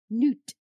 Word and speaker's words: Nut: But it is pronounced noot. um like a like a double O in the middle and it is the mother of the sky and the guardian of the day.